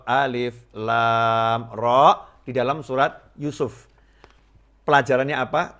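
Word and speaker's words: الر: seperti itu maka Allah tidak menyuruh Nabi Muhammad SAW membacanya Alama atau A5 tetapi Alif learn Meme atau alif lam Rock Samsul atau Yusuf pelajarannya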